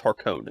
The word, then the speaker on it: Harkonnen: I hear Harkonnen and Harkonnen in various places. I have to be careful because, like, sometimes when I hear like Harkonnen, I think of like it's like a British pronunciation, Yeah. and I'm like, well, that's the correct one, and I'm like, an American wrote this though, so it's Harkonnen.